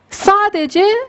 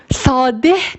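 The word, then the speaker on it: ساده: Sadece rişeh demiyoruz. Rişe kuk anlamına geliyor. Ya da sade. Türkçede de var. Sade. Biz sadeyi şu şekilde yazıyoruz. Sadeh demiyoruz. Bu H'yi yazıyoruz. Yazmak zorundayız bu kural ama okumuyoruz.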